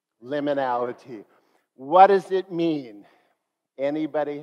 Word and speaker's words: liminality: and then we'll talk about what it means liminality liminality what does it mean anybody have an idea